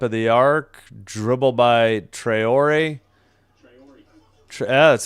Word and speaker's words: Traore: At the top of the arc, dribble by Traore.